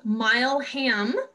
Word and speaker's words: Milam: And then as we go forward through the month, we'll be talking about And am I pronouncing this wrong? I want to say it's the Milam building. Milam. So Mileham.